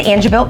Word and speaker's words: Angebilt: mayor everyone was here and how do you pronounce it the an an it's the angil building angil building all right yes how long